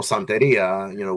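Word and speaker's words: Santería: I said it, you know, Right. gringo style, The Santeria. anglicized version of Yeah, Santeria. pero Santeria, which is Right. the Hmm. correct way to say it.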